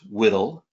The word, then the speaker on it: WDL: This workflow description language, or WDL, pronounced WDL, pipeline can run in the cloud on AWS, Azure, and GCP, as well as on high-performance computing, or HPC, environments.